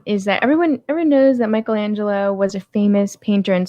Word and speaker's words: Michelangelo: So I did want to ask you something about now you'd send me you told me about Michael D'Angelo. Michelangelo. I'm sorry, Michelangelo. So I can't pronounce the name right.